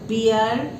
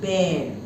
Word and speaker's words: bear: both plants and animals bear and please see the pronunciation it is not beer it is bare squirrel and human being